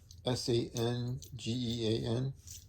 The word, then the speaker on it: Sangean: I don't know how to pronounce it. It's Sangean.